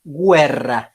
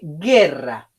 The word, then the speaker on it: guerra: muy particular fíjense que esto no se lee web se lee guerra y se separa de